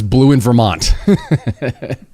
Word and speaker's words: BlueInVT: And I'd like to welcome to the show uh the way it's pronounced is Blue in Vermont.